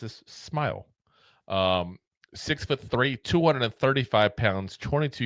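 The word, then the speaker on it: Smael: Smile Mondon out of Georgia. And yes, it is spelled S M A L, but it is pronounced as Smile.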